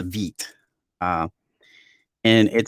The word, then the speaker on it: Vite: for is uh the vit so vid is or actually it's pronounced veet uh and it said